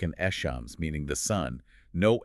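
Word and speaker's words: الشمس: letters, the solar letters, you don't pronounce the L at all. Instead, you double the sound of that next letter. Like an echams, meaning the sun.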